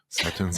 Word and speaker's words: Sutton: Whereas like you say it kind of staccato, and so does Jennifer Tilly. Like let me pronounce these 2 T's. It's not just 1 T; it's 2 T's. Like Sutton.